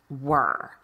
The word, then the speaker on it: were: it spelled w e ar e and it's pronounced with in the air sound were and that one's a little bit of the